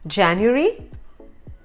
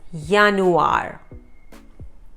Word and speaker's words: Januar: Then some of the letters in German are pronounced differently than in English, like the letter J has a Y sound.